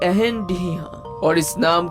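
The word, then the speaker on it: Reine de Rien: ये एक फ्रेंच name है जिसको फ्रेंच में प्रोनाउंस किया जाता है एहन डिहा, और इस नाम का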